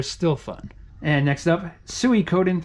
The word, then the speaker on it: Suikoden: At least that's how I pronounce it. If you play the game Metal Gear Solid and you have a save file from the first or second game, Psycho Mantis will say, "Oh, so you like Suikoden." And that's how the voice actor pronounces it, so that's how I say it.